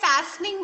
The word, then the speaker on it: fastening: अब यहाँ पे भी आपका T silent है, fastening बोलेंगे इसको.